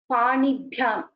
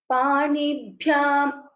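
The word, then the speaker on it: पाणिभ्याम्: One is stress on the Mahaprana. So for example, Panibhyam, Panibhyam, it should bha, the bha should be heard.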